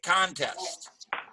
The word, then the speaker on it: contest: If it's a noun, we say contest.